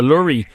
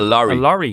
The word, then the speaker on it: lorry: of that word, because for years I've called it a lurry, but Adrian was saying that it's actually a lorry. It's a lorry.